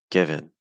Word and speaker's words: given: the vow sound okay so given as two syllables the stress is on give okay like give notice that when I'm doing that the first syllable is a little longer it's higher in Pitch the second syllable is faster it's weaker it's softer and it's lower in Pitch because it's not stressed